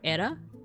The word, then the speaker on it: Hera: In Greek, her name probably would have been pronounced something like a or era. The the H would maybe not have been voiced.